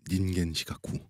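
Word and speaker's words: 人間失格: 없어 노롱거 휴망음 근데 인간 실격을 일본어 원어로 발음하면 닌겐 시카쿠 멋있어 느낌 있어 인간이라니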